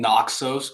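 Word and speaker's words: Naxos: I am in Nooxos, Greece.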